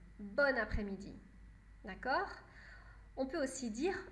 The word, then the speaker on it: bonne après-midi: les deux sont possibles mais dans les deux cas on prononce bonne bonne après midi d'accord on peut aussi